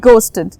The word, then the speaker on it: ghost: Next word গোস্টেড। গোস্টেড আমরা এতদিন গোস্ট মানে জানি, রাইট? এই ওয়ার্ডটাই কিন্তু প্রোনাউন্সিয়েশনে এইচ সাইলেন্ট, ওকে? ঘোস্ট না, ইট ইজ গোস্ট।